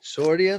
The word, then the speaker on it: Sordean: Sordean, like accordion. Accordion, yeah.